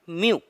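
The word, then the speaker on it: μ: इसको कैसे प्रोनाउंस करते हैं, म्यू।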